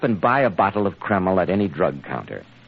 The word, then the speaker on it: Kreml: drive you stop and buy a bottle of keml at any drug counter it's spelled k r e m l keml hair tonic now Dr Watson did you and